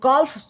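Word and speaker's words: calf: वैसे भी L silent होता है। कॉफ बोलते हैं। ठीक है? तो कॉल्फ मान लीजिए क्योंकि कॉल्फ ही ज्यादातर इंडिया में यूज़ करते हैं लोग।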